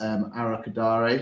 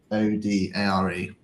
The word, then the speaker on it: Arokodare: a Sorare standpoint is Arakadare, who's gone to Wolves. So the Genk striker, I think it's Arokodare. Tolo Arokodare. Yeah, that's the one, mate. Perfectly pronounced.